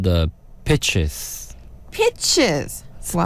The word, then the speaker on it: Pichs: They're called the Pitches. Pitches. Wow. Spelled Pichs. That's So interesting. it's like peaks. Pitches. It's pronounced pitches.